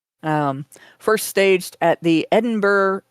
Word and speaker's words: Edinburgh: Um, first staged at the Edinburgh, it's Ed Edinburgh.